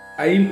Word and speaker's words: ऐं: ऐं उच्चारण करेंगे। जो ऐ रहेगा एक मात्रा होता है और बिंदी लगता है, उसको ऐं पढ़ा जाता है।